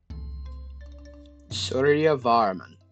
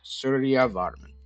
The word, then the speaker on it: Suryavarman: Suryavarman. So pronounce it as like two different words. Suryavarman.